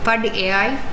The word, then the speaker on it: Padai: So this term is pronounced in three different ways. Padai, it's a Hindi term, it's nothing but study. Pad AI is study AI. Padai is a Tamil term which is way in English.